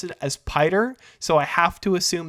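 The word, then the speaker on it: Piter: uh pyter DeVries it could have just been Peter no it's spelled p-i-t-e-r so I have to assume it was actually Peter but both of the movies have pronounced it as pider so I have to assume that Frank Herbert's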